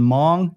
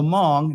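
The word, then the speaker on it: Hmong: Communist insurgents now the Mong that's spelled hm o n g it's an ethnic group the H is silent now they ultimately lost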